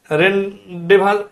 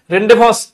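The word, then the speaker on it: rendezvous: রেনডেসভাস আর এটা হচ্ছে রনডেসভাস, রেনডেভাস, এটা হচ্ছে এই যে জেডটা উচ্চারণ হয় না, ঠিক আছে। রেনডেভাস এইরকম একটা উচ্চারণ, এটার অর্থ দেওয়া আছে নিয়ন্ত্রিত, ঠিক আছে।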